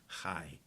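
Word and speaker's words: חי: Only the consonants were written. So Chai was written Chet, Yud. And when you read it, you knew how to pronounce it. You pronounced it Chai.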